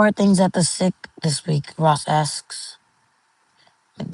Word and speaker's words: CIC: The CIC, I tell him, pronounced phonetically is SIC.